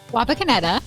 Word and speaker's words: Wapakoneta: Wapakoneta, isn't that how you say it?